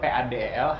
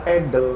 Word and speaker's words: padel: Dari itu sampai debat sampai gue tunjukin video ini Iga Swiatek aja yang main tenis ngomongnya Padel. bukan pedal Ya.